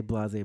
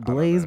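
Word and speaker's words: blasé: Because it's not Blaze, Blaze.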